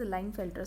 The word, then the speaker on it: Klinefelter: Extra x normal mail का genotype होता है 44 + XY, but here in case of क्लाइनफेल्टर syndrome, और इट is known as लाइनफेल्टर syndrome, के is silent sometimes, right.